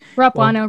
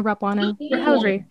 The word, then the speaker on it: Rapuano: name so we know am i pronouncing the you in there like right yeah oh okay rapuno rapuna all right rolls off